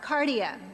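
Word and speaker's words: καρδία: Cardia. We know cardiac, right? Cardia.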